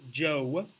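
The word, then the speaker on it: Zhou: Knights and in Europe that is pronounced Joe that is the longest-running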